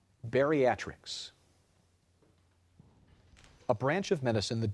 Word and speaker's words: bariatrics: and petite Bianca spell beatric a branch of medicine that deals with the treatment of obesity after let me correct the pronunciation of that Bariatrics a branch of medicine